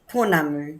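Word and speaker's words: pounamu: How's that pronounced? Ponamu.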